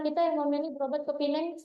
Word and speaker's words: Penang: Sudah bagus pun pelayanan rumah sakit contoh Murni Teguh tadi masih banyak kok masyarakat kita yang memilih berobat ke Pinang atau Penang. Bacanya Pinang ya.